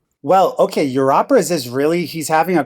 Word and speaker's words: Europeras: made this thing called Europeras, which is spelled e u r o. So, it's a pun like your operas, right?